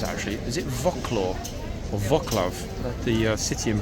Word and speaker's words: Wrocław: Is it Wrocław or Wrocław? The city in Poland, spelled W-R-O-C-L-A-W. Wrocław, I think. And the Polish W is pronounced as V.